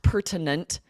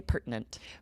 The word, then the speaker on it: pertinent: it should be pronounced pertinent but we really don't we use that glottal stop and say pertinent pertinent and we talk about